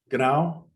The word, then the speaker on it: genau: Genau?